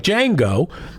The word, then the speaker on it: Django: We will name her Carmen Jane, but we will spell it DJ A with a silent D like Django."